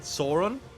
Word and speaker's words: Sauron: How do you pronounce it? Sauron.